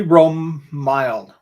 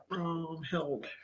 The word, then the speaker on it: Romhild: Oh, Billy Romilde. Romilde? Romilde? Romhild. Romhild. Romhild. See, I had to pronounce one name incorrectly.